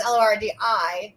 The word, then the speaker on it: Lordi: so for anybody not listening or not listening, anybody not familiar, Lordi is Lordi, not to be confused with Lorde, which is pronounced Lord.